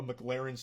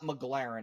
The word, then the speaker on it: McLaren: been filling up a McLaren's tank okay so this part pisses me off because he says the name wrong like eight times in a row it's not McLaren it's McLaren okay so that's how